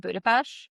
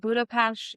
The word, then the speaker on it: Budapest: is round trip from Budapash which it's I know you think I'm saying it wrong because there is that st but it is a not a you can say it wrong but they will correct you I always of course